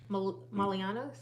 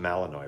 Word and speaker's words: Malinois: whatever what is it Belgian malianos Matt Malinois Malinois it's pronounced Malinois right Molino or Malinois stay awake from like